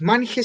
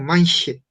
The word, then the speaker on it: manche: Entonces acá no es manje, sino manche.